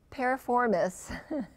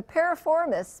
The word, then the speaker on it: piriformis: let's take a look at this muscle the para form is there I think I finally pronounced it correctly the piriformis muscle is located within the hips within the